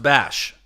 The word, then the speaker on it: Basch: My last name is pronounced Bash.